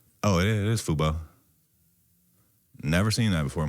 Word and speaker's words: Fubo: Oh, it it is Fubo.